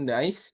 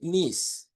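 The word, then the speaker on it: niece: Dibacanya itu bukan nice tapi nis teman-teman ya. Dibacanya itu nis.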